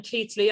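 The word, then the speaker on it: Keighley: clayton was born in keithley i'm told that's how it's pronounced in yorkshire in 1896 and he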